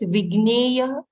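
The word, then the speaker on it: विज्ञेय: The pronunciation is correct. Vigneya.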